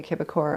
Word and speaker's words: Québecor: the paper get printed I guess the English would pronounce the quebecore media in French so we started printing a kibakor on our birthday 2018.